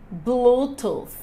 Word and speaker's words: Bluetooth: gente precisa dizer porque senão vai ficar com sonzinho mais parecido com f Lembrando que nós estamos